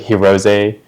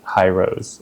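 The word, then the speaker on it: Hirose: easy uh or like herose uh I didn't know pronounced hero I was like hrose uh so I'm not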